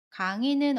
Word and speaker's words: 강의: 강의는 어때요? 마찬가지로 강의나 강이로 발음해요.